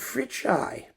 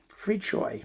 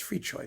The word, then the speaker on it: Fricsay: Oh, it's Ferenc Fricsay. Fricchoy. Pardon me, it's Fricchoy. Ferenc Fricchoy. That's how you pronounce it, more or less.